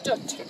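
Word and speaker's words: Dwt: Welsh name, as in foot, Dutt.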